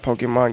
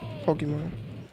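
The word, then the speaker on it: Pokémon: So I think I finally got Pokemon game and start working on stream.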